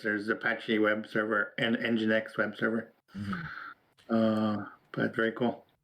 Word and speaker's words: nginx: I'm just going to presume the first N is silent and call it Jinx. No, that's not correct. It's Nginx. Oh, it's Nginx? Yeah, that makes sense. Thing. Yeah, it's supposed to be engine.